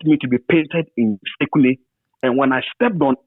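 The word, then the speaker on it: Sekondi: And I learned even to pronounce secondary in the indigenous way. I never said secondary on there. I always say Sekunde.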